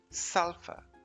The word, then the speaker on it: sulphur: make it fun it's spelled s-u-l-p-h-u-r but it's pronounced sulfa sulfur can you believe it no ph sound just